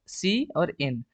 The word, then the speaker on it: cin: इट is pronounced as सी और इन। ठीक है, इसको कोई कीन कीन या सीन सीन सी इन बोलेगा।